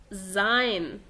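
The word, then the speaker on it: sein: فيبقى القاعدة بتقول لو حرف الاس جاء بعديه حرف متحرك في الحالة دي بننطقه زين، لكن غير كده بقرأه سين.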